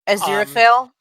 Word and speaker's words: Aziraphale: go through time with Crowley and I can't pronounce the angel's name no matter how hard I try. Aziraphale?